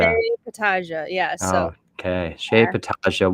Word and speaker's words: Petaja: So if you could please let me know and let our audience know how to pronounce your last name You're not accurately. Petaja. You're not alone. Petaja. Shea Petaja.